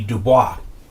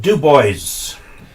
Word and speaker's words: Dubois: Like, for example, there's a place in Wyoming, Dubois, which normally would be Dubois, but they pronounce it Dubois.